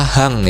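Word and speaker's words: 半: Nah, ketika menyebutkan angka menitnya yang 30 menit ini, itu bisa menggunakan kata hang ya. Jadi, hachiji hang gitu aja sudah bisa ya. Jadi, kata hang ini sudah mewakilkan angka 30 menitnya gitu.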